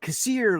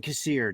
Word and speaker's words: Kassir: do you say it i said kasir like kasir is here and he kept going okay john cassier johnny cassier so he